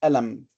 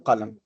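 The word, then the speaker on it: قلم: So northern Egyptians will pronounce it a, so we'll say alam rather than qalam. Okay, this is just alam. Yeah. For where I come from, I will say galam with a ga, so I will not say qalam.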